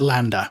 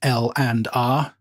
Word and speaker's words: LANDR: I always call it lambda but apparently you're supposed to pronounce it L and R but I'm gonna call